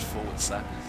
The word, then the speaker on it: Forza: lounge for fors 6 I'm saying fors now because I know you enthusiasts get mad when people say for but for those of you that don't know it's pronounced Forza Forza 6 is uh